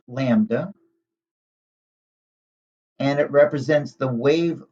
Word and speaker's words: lambda: general so we have this greek letter that's pronounced lambda and it represents the wave length for a